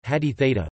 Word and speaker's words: Hadith: Hadith or, Arabic, Hadith, Hadith Arabic pronunciation, Haditha, place.